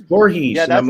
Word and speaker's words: Voorhees: I would say him Voorhees, Jason Voorhees, and they're like, that is cut, it's Voorhees, Yeah, and I'm that's like, no.